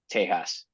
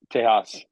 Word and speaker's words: Tejas: What's the pronunciation? Tejas. Tejas, as the locals would say.